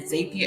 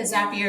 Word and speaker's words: Zapier: The third app or hack that I want to give you is Zapier, and then Zapier. It's either Zapier or Zapier. People say it different ways, and it's spelled Zapier.